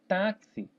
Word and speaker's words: táxi: Por exemplo, a palavra táxi. Táxi, quanta pronúncia eu faço aqui, ó? Tá é o T, o A, que é tá, né? Táxi. Aqui é um KS e o I.